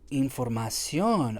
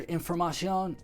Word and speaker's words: información: in that short I, información. I'm not saying it right in Spanish. I'm doing a short I in English. Short I doesn't even exist in Spanish. The I sounds like E.